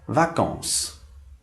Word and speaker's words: vacances: E para finalizar, a palavra vacances, que significa férias. Novamente, esse S final dessa palavra também não se pronuncia.